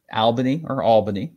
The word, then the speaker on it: Albany: Depending on where you are in the country, Albany is how it's pronounced.